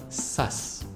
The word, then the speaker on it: sus: Not SARS as in the disease, but sus. S-U-S.